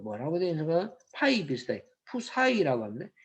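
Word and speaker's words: ψ: 푸사이라고 합니다. PSI인데 이걸 읽기를 푸사이라고 읽는답니다. 푸사이.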